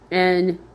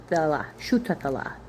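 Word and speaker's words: Shuthelah: Nutala. Shutala.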